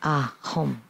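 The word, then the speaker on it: hūṃ: So this is the practice of the Sanskrit syllable. And the practice of the sound is you say home, home, home.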